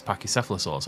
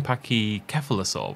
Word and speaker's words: Pachycephalosaurus: actually focused on these pachycephalosaurs although they keep saying pachy kephalosol which I've never done this pronunciation and now I'm paranoid I've been doing it wrong my entire life to sum up the